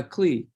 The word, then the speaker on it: Klueh: going to mispronounce this how do you pronounce his last name uh clee just like okay so uh coach dwayne clee as he raises money